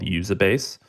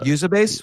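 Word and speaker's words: Uzabase: um a Japanese company that I love called usab base and I uh usab base what's it called yeah it's a publicly traded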